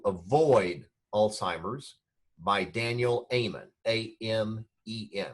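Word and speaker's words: Amen: Alzheimer's by Daniel Eamon am en like a minute at the end of a hymn which is how he pronounces it Amon the third book was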